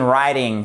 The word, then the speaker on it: writing: moment ok donc là voyez que vous prononcez pas le W fait bien attention i have been writing three books c'est je